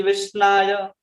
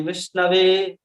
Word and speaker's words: विष्णवे: कहते हैं मूर्खो वदति विष्णाय धीरो वदति विष्णवे उभयस्तु समम पुण्यम भावग्राही जनार्दन। कहते हैं कि जो मूर्ख व्यक्ति होता है वो विष्णवे उच्चारण नहीं कर पाता, तो क्या कहता है, विष्णाय।